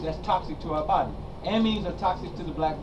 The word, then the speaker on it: amines: do you spell yeah amines is spelled a m i n e s Amin like amino acid oh okay okay all